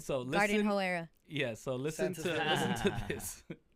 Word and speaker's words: Hoe Era: I can't say, but it starts with an H and it rhymes with Pro Era. Yeah. All right. Instead of Pro Era, he put Yes. All right. So listen. Garden Hoe Era.